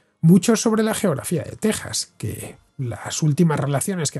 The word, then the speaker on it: Texas: Respecto a la pronunciación, en español, como es bien sabido, se pronuncia con J. Esa es la razón por la cual estoy diciendo Texas.